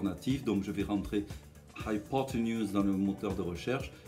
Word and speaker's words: hypotenuse: J'ai d'abord le son high, ensuite j'ai l'accent qui sera donc sur la deuxième syllabe, hypo. Ensuite j'ai un T avec un E à l'envers, c'est le cheval, le E muet, hypotenuse.